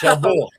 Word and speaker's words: Cherbourg: So number 4, The Umbrellas of Cherbourg. I have a friend who's French, and she has been, okay, Michelle, this is how you say it. It's The Umbrellas. Don't say the G, okay? So, Cherbourg.